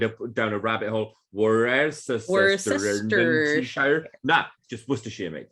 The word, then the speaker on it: Worcestershire: It's just Worcestershire. Worcestershire.